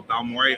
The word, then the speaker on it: Balmore: Yeah, no, Balmoré Art. So it's spelled like Baltimore with no TI.